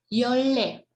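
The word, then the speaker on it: 열네: Kemudian 14, yol ne, tapi kalau ini dibacanya agak sedikit berubah menjadi yolle.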